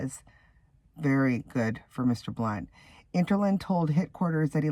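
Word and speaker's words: Blount: U N T, but it's pronounced like how he's changed it, Blunt, Blu N, and it's pronounced the same way.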